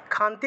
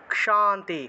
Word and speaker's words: क्षान्ति: তারপরে হলো 38 থেকে या देवी सर्वभूतेषु क्षान्तिरूपेण, क्ष উচ্চারণ হবে, খান্তি আছে বাংলায় বলে খান্তি, কিন্তু এটা উচ্চারণ হবে ক্ষ, ক যুগ মূর্ধন্যস্ব, क्षान्ति, क्षान्ति, क्षान्तिरूपेण, क যুগ মূর্ধন্যস্ব, উচ্চারণ হবে क्ष, क्ष, क्षान्ति रूपेण संस्थिता नमस्तस्यै